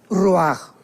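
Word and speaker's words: רוּחַ: parte espiritual que es la palabra roach, que se pronuncia roaj.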